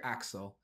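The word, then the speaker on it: Accel: this is common rider Axel or XEL if you want to use the English pronunciation the suit is oddly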